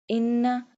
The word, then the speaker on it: إِنَّ: إِنَّ اللَّهَ عَلَى كُلِّ شَيْءٍ قَدِيرٌ Inna do gunna on noon because it has a tashdid.